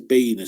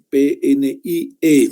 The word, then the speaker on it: PNIE: Aquí no dice, no es que está escrito mal, no dice PINE, sino se dice PNIE, también cuida que interpreten mal las cosas, ¿no?